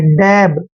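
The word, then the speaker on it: dab: डी ए बी, देखिए डी का उच्चारण डै करते हैं, ए को ए की मात्रा पढ़ते हैं, और बी को बै पढ़ना है। डैब, डैब होता है थपकी लगाना।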